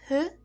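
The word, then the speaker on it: ふ: We now have Hu, which is pronounced like a combination of Fu and Hu.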